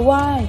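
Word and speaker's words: wai: The why Thai greeting is a customary Asian practice that's typical of Buddhist regions. It's pronounced similarly to the word why.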